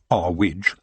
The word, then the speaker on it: Earwig: of her Manor housee Mrs earwig pronounced R WID got the news while